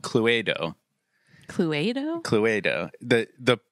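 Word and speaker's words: Cluedo: Latin or something but everywhere else in the world this game is called Chloe doe I don't trust the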